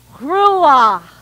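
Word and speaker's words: ruach: for the holy spirit the pronounciation itself sounds like breath because it has to come from your larynx and exhale with the burst of air grulla try it with me GRU ah very good Rula is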